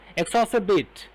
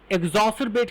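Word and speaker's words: exacerbate: आगे देखिए, एक वर्ड है एग्जॉर्स, ये बहुत मुश्किल प्रोनाउंस करना, एक्सॉसरबेट। एक्सॉसरबेट, एक्सॉसरबेट, इसको बोलकर देखिए और सर्च भी कर लीजिएगा। कई लोग एग्जॉसरबेट कहते हैं, एग्जॉसरबेट भी कहते हैं, एग्जॉसरबेट कई कहते हैं एग्जॉसरबेट।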